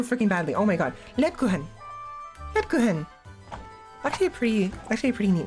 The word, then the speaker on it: Lebkuchen: I think it's like, this is clearly German, with the way clearly from the text from before the main menu, and also the characters' names. Lebuchen. Name. Pronunciation. They're honey-sweetened German cakes, molded cookies, or bar cookies that have become a part of Germany's Christmas traditions. One second. 1 second, please. Lebkuchen. Lebkuchen. Lebkuchen.